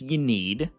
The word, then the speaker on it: Ynnead: GT using devoted of Yad now I know there's going to be a bunch of comments that say down below oh it's pronounced y need and first of all Yad sounds cooler and second of all